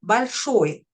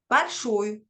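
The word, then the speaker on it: большое: Alors, premier point, cette règle n'est pas fausse, car ça marche bien avec des mots comme akno ou balshoe. Mais ce serait quand même mieux de préciser que cela ne marche que si le O est juste avant l'accent tonique.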